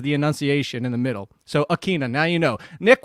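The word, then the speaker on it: Ikhine: the definitive answer do you know how to pronounce nick westbrook the last part it's akina okay uh so it's uh uh same uh at both ends and it's keen as the enunciation in the middle so akina now you know nick westbrook akina if julio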